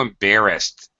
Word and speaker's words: embarrassed: right I was so embarrassed embarrassed it has actually D pronunciation you're right although no